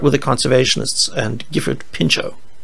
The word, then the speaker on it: Pinchot: the conservationists and gifford pinchot yes it looks like pinch art but he said the names pronounced pincho the conservationists they were